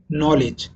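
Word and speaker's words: knowledge: তো যেসব অক্ষর শব্দে থাকে কিন্তু উচ্চারিত হয় না, যেমন উদাহরণ দেখতে পারেন নলেজ। নলেজের প্রথম যে অক্ষর, প্রথম যে লেটার, সেটা হচ্ছে কে, কিন্তু কে কিন্তু উচ্চারিত হয় না। ঠিক একইভাবে যেমন ISLAND এর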